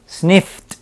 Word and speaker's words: sniffed: Es simplemente, omito esta E en la pronunciación y esta D la pronuncio como una T. Eso es todo. Entonces, sniff, sniffed.